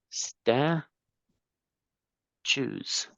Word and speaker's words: statues: is a little weird the pronunciation is sta choose statues there are several